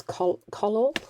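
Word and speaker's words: Collall: is the brand is color color i think it's color it is it's spelt c o double l a double l um it's an absolutely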